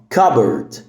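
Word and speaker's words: cupboard: زي كده تمام المهم البي هنا سايلنت كبرد كبرد البي هي اللي سايلنت اوكي كبرد كبرد واخر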